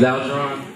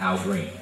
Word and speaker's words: Algeron: Put your hands together, please, for Algeron Johnson. So, name's Algeron, not Algeron, not Algeron, definitely not Al Green.